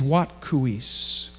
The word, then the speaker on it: Watkuweis: way into the lodge and her name is wat KU ease and Jackie did a great job pronouncing it today maybe you could just say with me what coo eise you'll remember it more as we say it